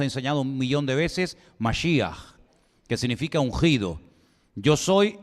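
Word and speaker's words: משיח: Ya lo hemos enseñado un millón de veces masia que significa ungido Yo soy el ungido Yo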